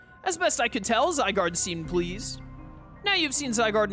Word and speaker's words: Zygarde: Chat, I used to pronounce Zygarde as Zygarde, by the way, just to let you in on some cursed lore.